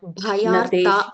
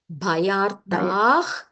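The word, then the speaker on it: भयार्तः: Bhayarta. Wait. Bhayartah Sharanam. Bhayartah. There is a Visarga there, right?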